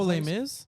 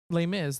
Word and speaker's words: Les Mis: Les mises Les mises oh lame Miz is that how you say it lay Miz the one with Anne